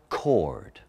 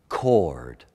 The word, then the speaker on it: coward: capitalized that see and in original pronunciation you pronounce the word coward cord cord it's struck a chord